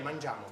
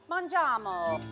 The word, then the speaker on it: mangiamo: Okay, mangiamo. Okay, mangiamo. Yeah. Mangiamo.